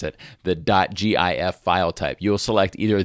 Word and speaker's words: GIF: I pronounce it, the .gif file type. You'll select either the correct sticker if you believe it's pronounced GIF, like gift, or the incorrect sticker